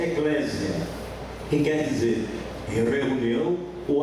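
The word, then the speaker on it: ἐκκλησία: Sua definição etimológica, a palavra etimologia, quer dizer, na raiz da expressão, na raiz da palavra, igreja, no grego se pronuncia eclésia, que quer dizer reunião ou assembleia, ou então chamados, tirados para fora.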